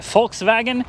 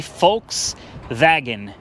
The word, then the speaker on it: Volkswagen: Volkswagen? Isn't it F and then V? Volkswagen. Whatever. It's a Volkswagen Passat, guys. 2015 model, and she's got some extensive hail damage, but it's still a Volkswagen.